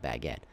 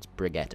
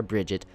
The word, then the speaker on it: Brigitte: You know, it's definitely not Baguette, but it's Brigitte, or Bridget.